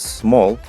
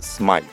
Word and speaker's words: Smal: people occasionally pronounced as small is actually of Ukrainian origin and it should sound like smile I was born in